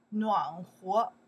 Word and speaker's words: 暖和: In that case, we pronounce 和, 和, 暖和, warm, 暖和, warm, okay, 和, that's a character have more than one.Pronounce.